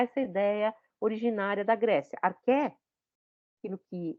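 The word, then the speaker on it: arché: Porque o CH em grego você lê como que?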